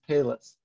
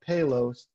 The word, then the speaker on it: Palos: really cool space now there's some debate the locals call some people call it payless and some people call it payloads i'm not sure how to say it i'm going to move forward with payloads but i'll probably go between the two um it's 15 000